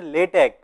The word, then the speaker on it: LaTeX: So it's pronounced as a LaTeX.